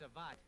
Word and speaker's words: savate: judo, karate, and savate, which I'm probably pronouncing wrong. I think it's savate is actually the correct pronunciation.